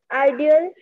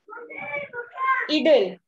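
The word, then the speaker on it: idyll: Ideal. It's not ideal. Pronunciation क्या था? Idle. Idle.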